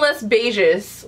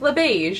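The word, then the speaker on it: Les Beiges: time I've been saying less beiges like a and like pronouncing the S and I heard somebody else say it and they were like Le beige and I'm like oh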